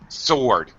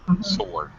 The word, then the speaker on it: sword: W is the door the W is actually silent it's um sword no no W sound sword okay yeah uh it's